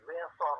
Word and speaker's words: Ziguinchor: benn ñaar moom mu nga nekk maire Ziguinchor mënu sa prononcer Ziguinchor Ziguinchor lay wax.